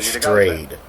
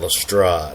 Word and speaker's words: Lestrade: sir arthur conan doyle claimed that it's pronounced um inspector strayed not lestrade we always leave on